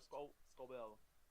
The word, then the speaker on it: Scobell: I don't know how I'm saying it now, but I went with Walker Scobell. Scobell? Is that how you say it? Yes, welcome Scrotum. Walker Scobell.